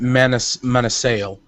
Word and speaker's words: Manasale: I straight up to is your name Manasel or Manasay? I use I pronounce it Manasale.